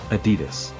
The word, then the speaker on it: Adidas: By the way, that's pronounced Adidas.